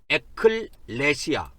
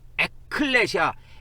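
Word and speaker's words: ἐκκλησία: 합해서 된 단어인데 그래서 에클레시아 에클레시아 그렇게 합니다 에클레시아 발음을 할 때는이 크 발음을 밑에다 넣어 가지고 에클레시아 그래요 교회를 이게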